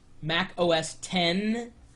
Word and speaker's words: Mac OS X: And yes, it's pronounced Mac OS X. When you see that, the X, that's 10 in relation to that, but in the URL, it's MacOSX/Snow-leopard there.